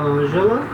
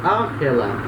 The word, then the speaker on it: Angela: Repara, esse nome Angela é o nome como se fala em espanhol, tá? Em francês não se pronuncia assim, se pronunciaria Angela, tá?